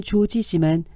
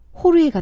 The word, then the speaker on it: Jorge: 그의 이름은 조지 Jorge 미국식 발음은 조지지만 스펜시 발음은 호르에다 스페인어는 알파벳 그대로 읽는 데다 j는 특이하게 후다 발음이라 해서 히읗으로 발음한다 그래서 조지는 호르에가 된다 내 한국 이름이 주인이니까